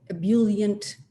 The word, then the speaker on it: ebullient: I am actually much more of an introvert and she is a brilliant, beautiful, ebullient, that's how you say it, extrovert, and a powerful woman.